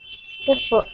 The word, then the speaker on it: efforts: Efforts effort. Yes, that's right. Emphasis is on the first syllable.